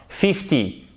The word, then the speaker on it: fifty: fois d'accord parce que si vous dites par exemple shifting la personne elle va comprendre fifty vous pouvez en être sûr si c'est un anglophone pourquoi parce que pour 50 l'accentuation elle est sûre la première syllabe donc ils vont attendre